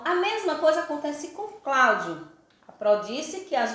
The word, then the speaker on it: Cláudio: Quando eu pronunciei Cláudio, eu pronunciei Cláudio. O O tem um som de U, é Cláudio, não é Cláudio, é Cláudio.